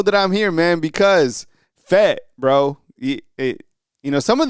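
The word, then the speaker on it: Fayette: Because it said it's it's faget, but it right like locals say fet.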